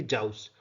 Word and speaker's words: joust: ठीक, तो ये जो वर्ड है इसका मतलब कि प्रोनाउंसिएशन है इसकी जाउस, और इसका मतलब हम देख लेते हैं।